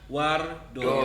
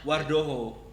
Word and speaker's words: Wardojo: Jadi masih penggunaan ejaan lama ya, Wardojo. Dojo. Jadi bacanya Wardoyo. Doyo. Kalau di Amerika Latin dibacanya Apa? Wardoho. Oh iya, Ya. Wardo. Karena J itu Ada. jadi H kan gitu.